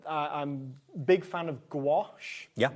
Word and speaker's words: gouache: I I'm big fan of gouache. Yeah. Not just because it rhymes with my name, although if I do ever bring out my own, I'm calling it gouache.